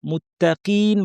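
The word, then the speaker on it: مُتَّقِين: মুত্তাকিন বলার সময় তা পাতলা থাকবে।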